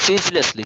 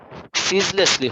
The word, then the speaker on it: ceaselessly: সো ওই উচ্চারণটা একটু খেয়াল করো, সিজলেসলি, ঠিক আছে? সিজলেসলি হবে। He wrote ceaselessly মানে বিরামহীন ভাবে, he he wrote ceaselessly until the death of his poetic flair.